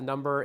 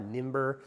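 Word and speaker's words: Nymber: I'm going to call it the Number. It's spelled N-Y-M-B-E-R, Nimber, but the Number is what I call it.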